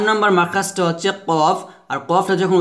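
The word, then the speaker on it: ك: ঠিক সেমভাবে কাফ হবে, তবে কাফ কিন্তু কফের মতো মোটা হবে না, কাফটা পাতলা হবে, কাফ, এভাবে।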